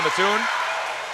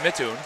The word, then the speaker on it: Matun: Too hot to handle there for uh Michaela Matun. And it is pronounced Matune.